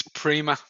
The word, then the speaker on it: Prima: I'm gonna correct your pronunciation again. It's Prima.